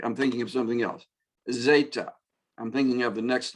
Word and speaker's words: zeta: This is the letter zeta. So it sounds a lot like the previous one. No, it doesn't. Sorry, I'm thinking of something else. Zeta.